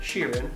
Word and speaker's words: Sheeran: next one what does Ed Sheeran that's how you say his name cheering apparently this man a lipstick